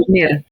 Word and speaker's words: Žolnir: Can you maybe say how we have to say her name from Urška the last one? Žolnir. It's Urška Žolnir.